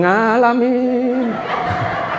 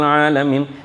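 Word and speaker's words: العالمين: Alhamdulillah Rabbil ngalamin. Aduh Pak ngalamin naper ya. Engkulo niku kadang mboten ngertos lho Pak. Ya, tapi karena ejaan ya, nggih, ejaan nggih. Huruf H itu diganti jadi K. Alhamdulillah Rabbil alamin.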